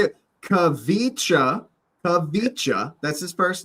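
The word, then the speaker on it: Khvicha: Kavicha. That's his first name. Kavicha.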